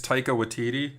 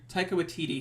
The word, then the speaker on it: Taika Waititi: It's directed by, and help me with this pronunciation, Scott. I think it's Taika Waititi. Taika Waititi.